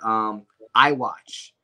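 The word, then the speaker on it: Eye Watch: films, one is called I Watch. And that's my film before Seven Roses. I did that one in 2017. And that's spelled E-Y-E, the letter I, watch. Like I watch.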